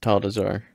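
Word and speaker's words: Atal'Dazar: desar is that how you say it yes tall desar yeah and then we also got you got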